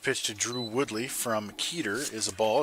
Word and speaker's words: Keeter: This pitcher's last name is pronounced Keeter. Long E.